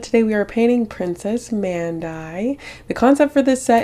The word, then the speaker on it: Mandie: And it's spelled Mandie, but it sounds like Mandie, which is really funny because I just looked it up.